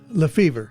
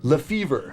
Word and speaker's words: LeFebvre: How do you pronounce the stadium? Lefevre. Lefevre.